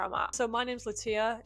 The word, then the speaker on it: Lattia: So, if you've been saying it wrong this entire time, it's Latoya.